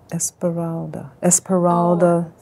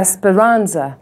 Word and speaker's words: Esperanza: the, what's the woman, I always say her name wrong, Esperalda. Oh, Spalding? Yeah. Spalding. Yeah. Esperanza.